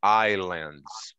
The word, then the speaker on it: islands: A gente esconde esse S. A gente engole esse S. Então é islands, okay?